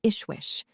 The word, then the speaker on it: Jishwish: been called Viracocha, and also as Jishwish, pronounced Ishwish, although he was only in half the rank of such a person.